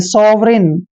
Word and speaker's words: sovereign: और देखिए आर को रे लिखेंगे और EIGN को इन पढ़ेंगे, ऐसे सॉवरिन।